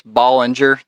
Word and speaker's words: Baldinger: It's Baldinger. The D is supposedly silent.